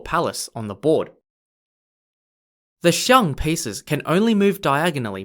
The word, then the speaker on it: xiang: the shure pieces are two pieces called the xiang spelt x i a n g xiang means elephant in chinese and they are positioned outside of the gong or palace on the board the xiang pieces can only move diagonally by two points